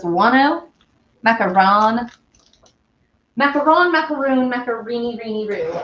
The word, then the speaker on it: macaron: i know i know when you're doing the ones with coconut it's macaroons but isn't it macaron macaron in french isn't that right it's more of an old because it's one oh macaron macaron macaroon macareni greeny